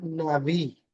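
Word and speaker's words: נביא: En hebreo la palabra profeta es pronunciaba naví.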